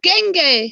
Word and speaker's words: dengue: Oh, dengue, it's called. It's spelled with a D, but it's dengue fever.